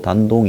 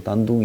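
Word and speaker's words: 丹东: 단동 이라는 게 뭡니까 이 한문으로 단동 이고 이 중국 발음으로 단둥 이라고 하는 요기가 북한하고 다리가 연결되는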